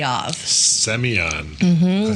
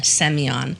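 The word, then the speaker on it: Semyon: Seion. Spell that. S M Y O N. Almost like Simon. It's like their version of Simon. S E M Y O N. Seion.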